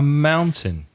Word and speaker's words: mountain: a hill is a mountain now the pronunciation is different from the spelling the spelling M o un t a I n but the first vowel sound is owl like cow or now so it's mound mound